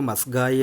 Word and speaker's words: ಮಸ್ಗಾಯಿ: ಏನು ಹೇಳಿಕೊಡಕ್ಕೆ ಬಂದಿದ್ದೀನಿ ಅಂತಂದ್ರೆ ಈ ಮಸ್ಕಾಯಿ ಅಂತಾರೆ ಅಥವಾ ಮಸ್ಗಾಯಿ ಅಂತನು ಅಂತಾರೆ ಎರಡು ತರ ಕರಿಬಹುದು ಉಚ್ಚಾರಣೆ ಸ್ವಲ್ಪ ಕ ಮತ್ತೆ ಗ ವ್ಯತ್ಯಾಸ ಅದು ಎರಡು ಕೂಡ ಏನು ತಪ್ಪಿಲ್ಲ ಇದು ಮಸ್ಕಾಯಿ ಅಥವಾ ಮಸ್ಗಾಯಿ